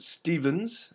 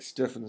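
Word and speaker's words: Steffens: like uh Lincoln stepin probably pronounce it Stevens as well you'll hear that probably more but it just always looked like stepan to me uh and he wrote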